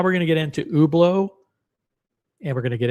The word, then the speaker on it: Hublot: Because now we're going to get into ublau and we're going to get into zenith which are pronounced ublau and zenit in French.